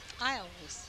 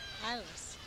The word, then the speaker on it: Iles: Secretary Ramona Zimmerman and volunteering mom Emily Iles is how it's spelled. Iles. Thank you. Iles.